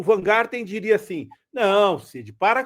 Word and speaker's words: Wajngarten: Tanto que é Van Garten, o Plío, o J a gente não fala, o J é mudo, então é Vangarden. É Van Garten, né?